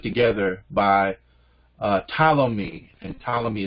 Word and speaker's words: Ptolemy: by uh ptolemy and ptolemy is filled with the silent p at the front i say for ptolemy